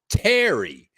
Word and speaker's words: Tarry: Her name is Terry, but it's spelled Tarry.